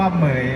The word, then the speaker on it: เหมรฺย: ครับ ออก เสียง ดี ๆ นะ ครับ ว่า เหมย นะ ครับ ค่ะ ปรบ มือ ให้ น้อง มังกร